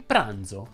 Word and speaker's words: pranzo: pronunce sorda e sonora c'è la z sorda di zucchero e la z sonora di pranzo che hanno la trascrizione